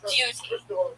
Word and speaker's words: duty: It is pronounced with the liquid U. Duty.